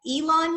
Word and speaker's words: Elon: chapel hill north carolina and attended college at elon university did i pronounce that right you did hi all right